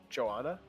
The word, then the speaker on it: Johanna: Yeah, I think it's actually pronounced Johanna Mara Temple is her full name. Johanna Mira Temple. Ah. Yes. So that's why I make sure I get that H in there.